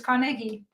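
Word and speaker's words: Carnegie: tried there three different I'm still pronouncing the G like a j ah it's kegi right it's a g not a j that makes more sense carnegi carnegi Cari okay that makes more sense Cari just sounds nicer but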